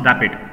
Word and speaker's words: RAPD: So it is random amplification of polymorphic DNA, rapid or pronounced rapid.